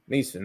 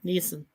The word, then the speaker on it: Neeson: I'm not sure how to pronounce that properly. N-I-E-S-O-N? Yeah. Neeson, okay. Yeah, Neeson.